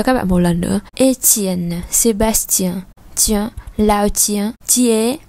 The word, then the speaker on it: Étienne: Đối với 2 trường hợp cuối thì chúng ta sẽ đọc là T. Étienne, Sébastien, tiens, tiens, lao tiens, lao tiens.